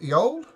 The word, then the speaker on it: Yol: Is that how I pronounce it? Yol? Yes.